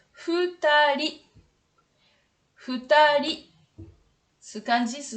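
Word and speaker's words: 二人: Avec le kanji 2, ça se prononce futari.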